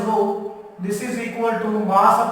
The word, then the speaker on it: rho: This is pronounced as rho.